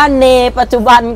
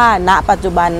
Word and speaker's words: ณ ปัจจุบัน: เดิน เข้า มา เนี่ย อาจ จะ อ่าน ว่า เน ปัจจุบัน ก็ ได้ นะ คะ อย่าง เช่น หยิน นะ แต่ ที่ จริง แล้ว มัน ชื่อ ว่า ณ ปัจจุบัน นะ คะ นี่ คือ